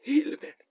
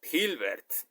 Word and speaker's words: Hilbert: encontrar en la H porque hilbert se escribe con h H que se aspira hilbert hilbert en esta ocasión quiero